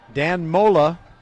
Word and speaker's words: Danmola: Danmola almost rhymes with Angola. Almost.